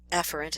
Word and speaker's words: efferent: are the motor or efferent efferent is proper pronunciation but I emphasize the e because think of exit exit the central nervous system and here again the